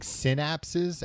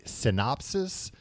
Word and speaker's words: synapses: Like I'm listening to a book right now, occasionally on tape, where the narrator keeps pronouncing synapses as synopsis.